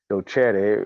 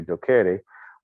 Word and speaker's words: docere: a doctoral level, which comes from the Latin word docere, or depends on if you use ecclesiastic pronunciation, you could say docere, but it's to teach.